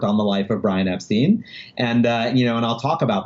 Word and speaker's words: Epstein: Brian Epstein's family says Epstein. That is the way the family pronounced their name. And the source that I would quote is Brian's mom. Brian's mother says the correct way to pronounce my family's name is Epstein. And the fact that everybody called my son Ep-stine, they said it wrong.